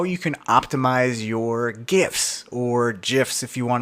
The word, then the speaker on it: GIF: you can optimize your GIFs, or GIFs if you want to say it like a jerk. It's GIF, it's graphical interface, GIF.